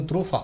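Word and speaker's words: Truffaut: அதை இயக்குனர் பேர் வந்து த்ரூஃபா, ஃப்ரான்சிஸ் த்ரூஃபான்னு சொல்லுவாங்க, ஃப்ரெஞ்சு உச்சரிப்பது.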